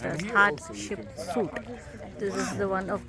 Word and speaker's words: Hatshepsut: That's how it's pronounced as Hatshepsut.